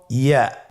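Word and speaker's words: ياء: পরবর্তী হরফটির নাম হল ইয়া। পরবর্তী হরফটির নাম ইয়া। পরবর্তী হরফটির নাম কি? ইয়া। ইয়া হরফটি উচ্চারণের ক্ষেত্রে বারিক হবে এবং এক আলিফ টেনে পড়তে হবে।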